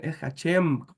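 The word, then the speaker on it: שֵׁם: bendito su diente decía no tenemos que corregir esa pronunciación esem con m al final no con N y así entonces para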